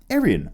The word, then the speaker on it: Arian: Also, Arian, you say my name and it's pronounced like the race of white people. Arian, okay.